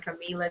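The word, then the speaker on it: Kamilah: at dollar sign Sunshine Camilla k-a-m-i-l-a-h that is how you really spell my name but on Facebook it is sunshine k-a-m-e-l-a that's how you pronounce my name but that right there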